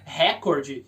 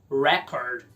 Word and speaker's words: record: aqui é mais uma não é o substantivo registro ou recorde inglês recorde histórico na primeira Record o verbo é igual mas pronuncia Record significa registrar o gravar na segunda Record for example Let's Record